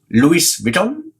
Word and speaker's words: Louis Vuitton: Louis written Louie Vito Louis Vuitton ice to pronounce at as Luis Vuitton Louis Vuitton and Dior and Salah ski all of them